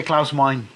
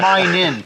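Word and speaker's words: Meine: it right CL mine I used to say clus mine he's your mine what my mine what no it's actually mine in clous mine in no there's only one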